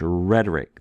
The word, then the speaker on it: rhetoric: mark over it, and that comes over in English when we have English words that have a silent H, rhetoric. That's coming from the Greek, carrying over that breathing mark.